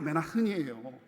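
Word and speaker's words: Manhattan: 아닌 그 유명한 뉴욕 맨나 흔이 발음이 원래 맨나 흔이 근데 저랑 되게 잘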